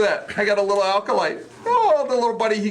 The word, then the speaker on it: acolyte: Is it an acolyte or an alkalite? Which one was it, John? Acolyte. Okay. Did I mispronounce? Yeah. Just want to catch him on that. I put the emphasis on the wrong syllable.